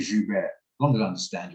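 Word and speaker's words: Joubert: understand I don't care it's like saying jubert instead of Jew bear as long as I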